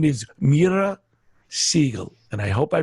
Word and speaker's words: Mira: us so mira and you told me to pronounce it like mira mira tell us a little